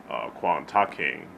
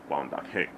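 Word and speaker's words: 關德興: Especially the black and white Wong Fei Hong films starring the late great Wang Da-king, Quan Ta-king, for us English speakers, but it's pronounced Wang Da-king.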